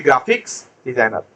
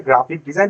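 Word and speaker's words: graphic design: করে তাকে আমরা বলি গ্রাফিক্স ডিজাইনার বুঝাইতে পারছি সো এখন থেকে কেউ গ্রাফিক্স ডিজাইন গ্রাফিক্স ডিজাইন বলবেন না একচুয়াল উচ্চারণ হচ্ছে গ্রাফিক ডিজাইন পিছনের এস টা আর হয় না সো এজন্য এখানে লেখা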